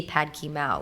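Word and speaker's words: pad kee mao: You still see pad ki mao, like that's how you say it.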